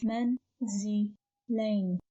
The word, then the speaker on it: manzilain: So this is a word of three syllables and pronounced as manzilain, manzilain, manzilain.